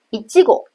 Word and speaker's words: いちご: 比如草莓一基果，它的重高音就在当中的那个七上面。